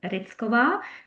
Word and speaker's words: Rychova: So my surname is Ritzkova and I come from the Czech Republic originally. So that's why uh the different pronunciation and I guess my ancestors came from somewhere else not really from Czech.